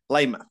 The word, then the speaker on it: Lymath: the founder of gods of grip Mr Tom louth what you pronounced it right as well was it good